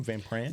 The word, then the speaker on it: Van Pran: Van Pran?